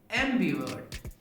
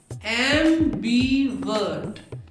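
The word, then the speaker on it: ambivert: इन तीनों वर्ड्स के प्रोनाउंसिएशन में आर साइलेंट होता है और पहले 2 लेटर्स पर जोर लगाते हैं। Introvert, extrovert, एम्बीवर्ट। Introvert, introvert, introvert, extrovert, extrovert, extrovert, एम्बीवर्ट, एम्बीवर्ट, एम्बीवर्ट।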